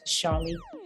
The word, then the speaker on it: Charli: It's spelled Charli, like Charlie. She says Charlie Huggins, Huggins, not Higgins, Huggins.